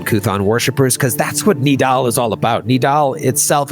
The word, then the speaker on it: Nidal: it's pronounced Nidal.